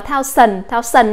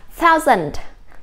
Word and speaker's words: thousand: Chứ chúng ta đừng đọc là thao sần nhé. Và cả chữ này chúng ta sẽ đọc là thousand, thousand, thousand.